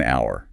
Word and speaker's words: hour: Well, the classic one is our starts with a ch is silent. You hear, right? Starts with a vowel sound. So it's an hour.